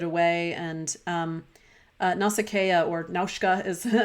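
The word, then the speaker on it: Nausicaä: the work of Hayao Miyazaki particularly his manga nasakea the valley of wind so a lot of us are familiar with Princess Mononoke and Spirited Away and um nasakea or naushka is how they pronounce it in Japanese was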